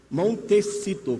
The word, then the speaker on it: Montecito: Entre na internet, coloque Al Gore, Montecito, como se escreve, como se fala? Montecito, com C, Califórnia.